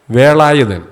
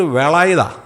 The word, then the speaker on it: വേലായുധൻ: സഹോദരന്റെ പേര് വേലായുധൻ എന്നാണ് ഇംഗ്ലീഷ് ആക്സന്റിൽ ലാ ഇല്ല പൊളറ്റിക്സിൽ ലാ ഇല്ല അപ്പോ വേലായുധനെ എങ്ങനെ വിളിക്കും വേലായുധൻ അല്ലേ വേലായുധ്ള എന്ന് പറയുന്നത് എങ്ങനെയാ വേല എന്നുള്ളത് വേള എന്നായി പറയത്തുള്ളൂ അത് ഫോണറ്റിക്സ് എന്ന് പറയുന്ന ആ ഉച്ചാരണശാസ്ത്രത്തിനകത്ത് ലാ ഇല്ല അപ്പോൊ ഇങ്ങനെ ചെന്ന് വിളിക്കുകയാണ് അപ്പൊ ചേട്ടൻ നോക്കി ഇവൻ എന്നാ പറ്റി എന്നെ വേലായുതൻ ഇന്നലെ വരെ മര്യാദ്ക്ക് വിളിച്ചുകൊണ്ടിരുന്നവനാ ഇന്ന് വന്നിട്ട് വേളായുതാ അത് തമിഴന്മാർ വിളിക്കുന്നപോലെ വിളിക്കുന്നു അപ്പോ ഇവന എന്നാ പറ്റി